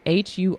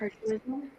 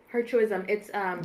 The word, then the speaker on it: hirsutism: So she said, how can I decrease Huritism? I don't even know how to pronounce that. Hirsutism. Hirsutism.